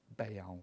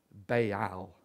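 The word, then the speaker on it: Baal: tendency to worship bail bail that's how it should be pronounced not bow bay owl and in Israel they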